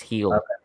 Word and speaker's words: Gil: i think um let's see it's no it's heel louise it's heal that's what baseball reference says the pronunciation is louise heal um 22 he's 22